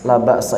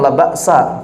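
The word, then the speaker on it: لا بأس: La ba'sa, tapi bacanya jangan la ba'sa kalau hanya dia, la ba's. Karena orang Arab tidak mengharakatkan huruf terakhir.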